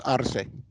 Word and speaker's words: Arce: For the non-Spanish speakers, they pronounce it as Arce. I speak Spanish. It's Arce. Arce.